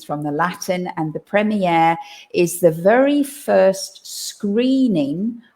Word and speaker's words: premiere: now yeah now the premiere like the genre both of those words come from french and we try in